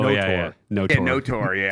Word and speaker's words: KOTOR: no Tor, yeah. Because the K in Knights is silent, so you wouldn't say KOTOR, you know? It'd be NOTOR.